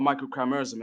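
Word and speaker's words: microchimerism: It's called microchimeism. And and listen, like and and this is why I was attempting the scientific term is microchimeism. Um I could spell it. It's micro and chimera.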